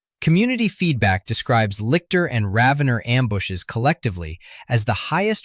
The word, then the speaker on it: Ravener: The Oxford English Dictionary and Merriam-Webster both give the pronunciation as rhyming with ravenous. Ravener, emphasis on the first syllable.